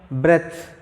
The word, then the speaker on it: breath: Yes, this word is it is pronounced breath, not breathe, breath. This is indeed breathe, breathe.